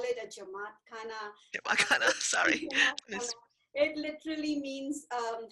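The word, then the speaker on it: jamaat khana: and so this is is that's called a jawakana or how do you say that yeah yeah we call it a jamaat khanna sorry it literally means um house of people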